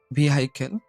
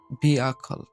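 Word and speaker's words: vehicle: প্রথম এই শব্দটার আমরা উচ্চারণ করি ভেহিক্যাল। তো এটা আমরা যদি সঠিক উচ্চারণ করি তাহলে উচ্চারণটা হবে ভিআখল, ভিআখল, ভিআখল, ভিআখল।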